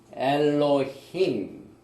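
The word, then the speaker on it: אֱלֹהִים: 우리가 많이 발음을 해봤지만은 우리가 다시 한번 하나하나를 발음을 해보겠습니다. 제일 먼저 태초에 베레시트, 그 다음에 창조하시니라 바라, 그 다음에 하나님이 엘로힘, 이건 번역이 안 돼 있죠.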